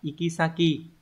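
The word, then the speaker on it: 行き先: không Câu số 32 chữ này đọc là ikisaki từ ikisaki này có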